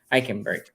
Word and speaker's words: Eichenberg: I can't pronounce his name. I remember seeing Eichenberg. him. Eichenberg.